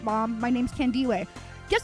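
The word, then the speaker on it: Thandiwe: "Hey, by the way, my name has always been Tande, but when I started as an actress, some racist dude said, "I'm just going to call you Tandy."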